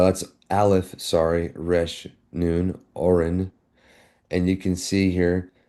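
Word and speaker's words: אֹרֶן: So you'll see here, the Masoretic pronunciation is Oren, Oren, all right?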